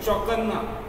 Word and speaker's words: चौकन्ना: ध्यान से देखिए, चौकन्ना, आधा ना फिर पूरा ना, तो उच्चारण में देखो चौकन्ना, चौकन्ना, तो न का एक पहले अल्प उच्चारण करें, बाद में बड़े जो पूरा है उसका पूरा उच्चारण करें।